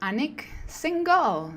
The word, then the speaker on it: Anik Singal: beyond the hustle and today we are with anak single did I pronounce it well you did yes actually many